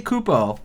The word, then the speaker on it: Kupo: I say Kupo, like the, like in Final Fantasy.